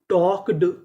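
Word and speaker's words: talked: जैसे टी ए एल के इसे पढ़ेंगे टॉक। यहां पे एल हमारा साइलेंट रहेगा।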